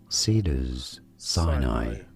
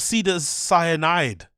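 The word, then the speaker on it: Cedars-Sinai: And it's like, no, it's not pronounced cyanide. It's pronounced how it's written.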